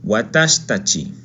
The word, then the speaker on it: watashitachi: Muy bien, nosotros, watashitachi. Se omite la i, watashitachi. Nosotros. Recuerda, se omite la i de watashi, ¿ok? Por cuestiones fonéticas.